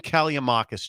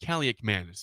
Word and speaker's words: Kaliakmanis: Dare Ethan Callie-Manis to run. Is that how you say it? Kaliakmanis.